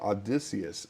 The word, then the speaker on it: Odysseus: Odysseus. Let me see. Odysseus. Of this year. Odysseus. Yes. That is how you pronounce it. Odysseus.